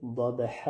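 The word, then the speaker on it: ضبحا: داشته باشید دوستای عزیز حرف داد اولاً خوب پر از جمله حروف پر است در همه حالت پر تلفظ میشود در وقت تلفظش دیگه لبها کاملاً اچه نشوه ای نشوه ضح ی اشتباه است داد ح بدون اینکه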